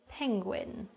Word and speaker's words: penguin: number nine we've got penguin penguin now penguin is a bit difficult to pronounce because it ends with the Guin however it sounds more like a w sound at the end now I'm sure you